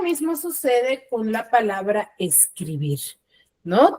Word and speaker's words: escribir: Lo mismo sucede con la palabra escribir, ¿no? Tiene la mayor fuerza de voz en la última sílaba, que es bir, pero no la tildo porque termina en R.